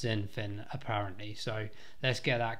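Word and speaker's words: XinFin: on comments in the previous video calling it x and finn which is absolutely shocking for me i do apologize uh is pronounced zinfan apparently so let's get that correct so that's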